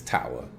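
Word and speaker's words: Towa: myself with spoilers everywhere her name is not toa i refuse to call her toa it's tawa the name's toa herschel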